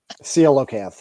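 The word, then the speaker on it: coelacanth: you know brought about the the colon the colon cath fish is that how you pronounce it seal oath yeah Seath all right so it's a fish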